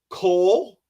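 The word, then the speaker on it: kohl: is it was your choice is Cole and that's spelled k o h l like the store uh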